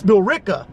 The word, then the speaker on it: Billerica: But I mispronounced your smoke shop name. It's Billerica.